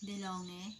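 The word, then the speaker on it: De'Longhi: So, this is DeLonghe, diba? DeLonghe, ganun po yung pag-pronounce nila.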